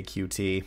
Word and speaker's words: Qt: on the cute toolkit that's Q lowercase T pronounced cute I'm not saying it's